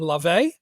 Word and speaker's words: Laufey: What I did pick was the new song from Laufey. Is that how you pronounce it?